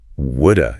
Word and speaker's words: would have: And yeah, would have becomes would. I would have come, but I was busy. Would a It's amazing how that clear have sound just sort of evaporates into that little uh It really does.